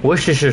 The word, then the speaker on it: Worcestershire: Worcestershire sauce.